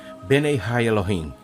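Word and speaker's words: בני האלהים: Os filhos de Deus mencionado aqui em hebraico se pronuncia Benei Ha Elohim.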